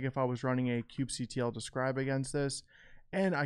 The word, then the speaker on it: kubectl: using the kubectl CLI, however you pronounce it, I pronounce it kubectl, K9s is a tool that just makes it a little bit easier.